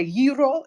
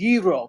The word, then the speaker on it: gyro: New York or Pittsburgh if Greek people say Euro it is Euro if Turkish people say